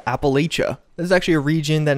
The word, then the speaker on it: Appalachia: six and yeah I know it looks like Appalachia but in reality it's pronounced Appalachia and that's pretty much it predominantly I just